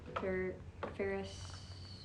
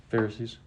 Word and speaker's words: Pharisees: It all falls Ferris. How do you say that? Pharisees.